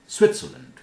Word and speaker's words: Switzerland: Switzerland. T is pronounced.